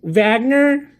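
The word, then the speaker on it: Wagner: So France Vagner, it's funny because you pronounce W as V in Germany.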